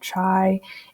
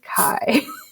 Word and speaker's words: chi: it as chi so it's not chi it's not chai it is kai so again today's goal